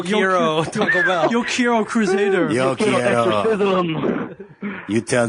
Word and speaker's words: CruZader: It's the way he pronounces it. It's CruZader. Yes, you're yeah.